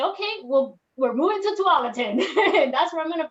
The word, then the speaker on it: Tualatin: First, I couldn't even pronounce it. So I was like, then somebody said it's called Tualatin.